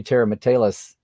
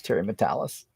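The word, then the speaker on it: Terry Matalas: see online or what showrunner for season three Tara mattelis why do I call Terry's name wrong I've known for years it was Terry matalis um since he was Brandon's assistant the end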